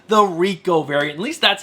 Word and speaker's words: R1C0: Spider-Gwen, Gwenverse #5, the Rico variant. At least that's how I think you say his name. It's R1C0, and I think it's going to be Rico. It's just a cool way to spell it.